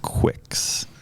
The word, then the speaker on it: Qwixx: QWIXX. Quicks. Yeah, So you would think it's spelled. Just like that wouldn't be acceptable in Scrabble, by the way. no. QWIXX. It's different.